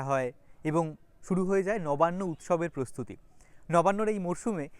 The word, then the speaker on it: নবান্ন: পর্যন্ত আমার সঙ্গে থাকবেন নবান্্য মানে হচ্ছে নতুন ধানের উৎসব গ্রাম বাংলায় বলা হয় লবান নবান্্য থেকে নবান্ এবং সেখান থেকে লবান নকে ল উচ্চারণ করার প্রবণতা থেকেই এসেছে আর ভাত আমাদের জীবনের